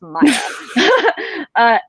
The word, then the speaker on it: Maya: with his shard blade, Maya is how I read it. I've heard it pronounced Maya, and I'm like, Maya is not how you pronounce that, y'all. It's Maya.